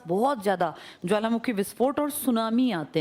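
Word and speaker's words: tsunami: इसके आसपास बहुत ज्यादा ज्वालामुखी विस्फोट और सुनामी आते हैं। सुनामी किस भाषा का शब्द है? हां। इसमें टी साइलेंट है।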